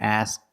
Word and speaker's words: ask: position don't ask me this happens when the K is between consonants if you make the position of the K but you don't release the sound example he asked me